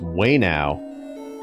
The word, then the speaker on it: Ueno: Oh, it's way now. Wayno. Wayno. Oh, I haven't. Wayno. Wayno. Okay. Sounds like wait. It says W-A-Y-N-O-W.